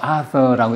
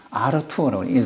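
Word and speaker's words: Arthur: 이거는 에니그마 머신은 이제 그 1차 대전 직후 독일 전기공학자, 영어로는 뭐 아서라고 읽혀지는데 독일어는 아르투어라고, 독일 사람이라서 아르투어 셔르비우스라는 사람이 1918년에 이 기계를 발명을 해요.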